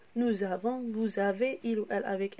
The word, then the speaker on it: vous avez: Alors, vous avez. A-V-E-Z. La même chose ici. Le S est entre deux voyelles. On le prononce Z.